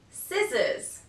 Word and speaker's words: scissors: Det subtle letter C the letter C is usually not pronounced in the combination s C for example scissors fascinate muscle now letter D the